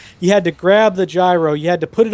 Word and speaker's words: gyro: out its fine ass euro euro shut up gyro it actually is pronounced gyro and we're all i